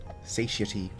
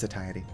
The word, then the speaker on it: satiety: Satiy. Pretty sure it's satiety. Probably just a pronunciation thing.